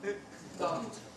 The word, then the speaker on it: Siddhant: Am I pronouncing it right? Siddhant? Yes. Siddhant. Siddhant. T. It's T in ending.